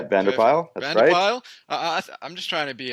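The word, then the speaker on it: Patrick van der Pijl: get this pronunciation correct patrick vande appeal is that right yeah Bandar pile I'm just trying to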